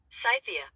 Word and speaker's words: Scythia: Let's pronounce that right. Scythia.